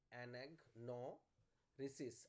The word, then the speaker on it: anagnorisis: ANAGNO, anag. No, risis, RISIS, ANAGNORISIS। আমি বানানটা মেসেজেও লিখে দিচ্ছি, ANAGNORISIS।